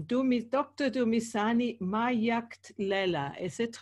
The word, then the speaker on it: Magadlela: Thomas Ani my act Leila is it right that's perfect thank you very